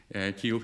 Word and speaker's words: Kyiv: So what is the proper way of pronouncing the capital city of Ukraine? Kiev? Well, What's the proper? Kyiv. Kyiv, okay. Kyiv is the proper.